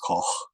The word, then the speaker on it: Koch: In Europe, Coke, which really should be pronounced Koch, is becoming more and more popular.